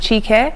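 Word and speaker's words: Chika: nigerian name so actually is not an uncommon name in nigeria normally pronounced chica yeah um my full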